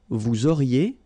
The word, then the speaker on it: vous auriez: Vous auriez, liaison here, and then EZ will go like E. Vous auriez, okay, and the last one.